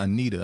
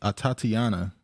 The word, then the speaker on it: Atatiana: say her name wrong I believe I've been saying Anita I don't know why it's a Tatiana Jefferson ITA Baker I don't know why I kept saying Anita but yeah Tatiana Jefferson